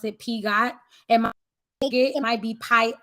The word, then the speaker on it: Piaget: I pronounce it Piaget. It might be Pi. It's Piaget.